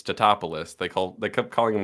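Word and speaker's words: Tatopoulos: keep mispronouncing it, and he goes, "It's Totopoulos."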